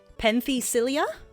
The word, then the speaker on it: Penthesilea: Penthesilea, I believe.